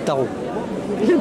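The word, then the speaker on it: Tharaux: Moi, je m'appelle et je suis maire d'un petit village de 65 habitants qui s'appelle Tarot. Voilà. Alors je sais pas, voilà. Ça. Comment ça s'écrit? T-H-A-R-A-U-X.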